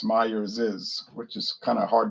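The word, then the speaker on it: Myers's: started company was last name myers so it's meyer's is which is kind of hard to say but that's the proper pronunciation but most people don't use that kind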